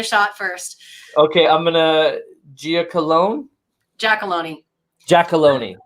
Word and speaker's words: Giacolone: Okay, I'm gonna Giacolone. Giacolone. Giacolone. As I tell everyone, rhymes with baloney.